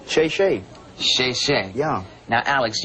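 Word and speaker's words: 谢谢: Oh, thank you in Chinese is shay shay.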